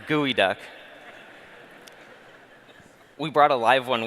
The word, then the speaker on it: geoduck: geo conference may have thought this is a geoduck it's pronounced gooey duck we brought a live one with us you